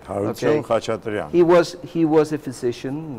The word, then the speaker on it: Harutyun Khachatrian: Harutyun Khachatrian. I hope I pronounced the name yes, quite yeah, okay. That's right. Harutyun Khachatrian.